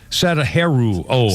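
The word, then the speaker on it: Sadaharu Oh: Pete Davis, Satarahu O, or Sadaharu O, I think it's pronounced.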